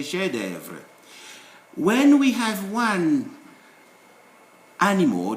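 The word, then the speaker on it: chef-d'œuvre: With this F, it is also silent in certain words. For instance, when you say chef d'œuvre, you don't say chef d'œuvre, you say chef d'œuvre.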